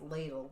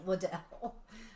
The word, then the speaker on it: Liddell: which is spelled like it could be pronounced Ladle but I'm it is Liddell I hope it was